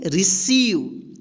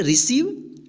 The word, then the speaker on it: receive: यहां पे देखिए RECEIVE, इसको क्या पढ़ेंगे, रिसीव। यहां पे देखिए EI एक साथ आया है तो इसका ई उच्चारण होगा। ठीक है, रिसीव।